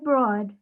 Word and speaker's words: Broad: school graduate and billionaire eli looks like broad but pronounced toad i recommend simply web